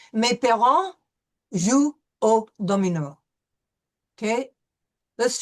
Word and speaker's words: parents: We have an E-N, and you know that that's going to be a nasal vowel. And we will not pronounce the T-S. Mes parents jouent au domino.